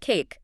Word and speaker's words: CAIQ: The CAIQ, which is pronounced cake, sadly still inedible, the consensus assessments initiative questionnaire.